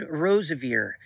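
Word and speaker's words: Roseveare: Last night, the testimony of Helen Rosevier came up again on YouTube. Helen Rosevier, it's spelled Rosevere, who went and ministered down in Africa, and she ended up being raped twice.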